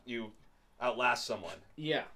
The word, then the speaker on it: Outlast: just got this game out last two kind of hard to say I feel like most people say outlast but that's that's not really right right it's outlast outlast emphasis on the last like you would say